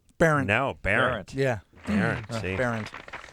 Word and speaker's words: Behrendt: See, I'm just going to cross out how it's spelled. I know. I should have changed it, man. B-A-R-E-N-T. Yeah, that's what I'm going to do. B-A-R-E-N-T.